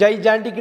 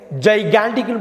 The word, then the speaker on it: gigantic: ஜைஜான்டிக்னு எந்த வகையிலும் படிச்சிடாதீங்க, ஜைகான்டிக்னு படிக்கணும்.